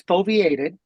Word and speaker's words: foveated: It's foveated. Foveated. Yeah, yes. That's how you pronounce it. It's foveated. So foveation I had the emphasis on the wrong syllable.